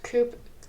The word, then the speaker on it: coup: how coo is spelled.